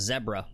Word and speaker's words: zebra: Iron Dog says it's pronounced zebra, I believe he wants me to say. Like Deborah? Yeah, apparently.